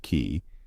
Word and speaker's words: Qi: They're the second oldest tribe on the surface of the planet they're calling Earth, which was called Qi, pronounced key.